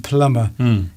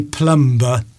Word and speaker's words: plumber: Yes We don't pronounce the B, the B in plumber.